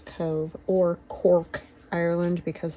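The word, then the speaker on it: Cobh: um Cove or it's it's C O B H, but it's pronounced Cove or Cork Ireland because it's county cork.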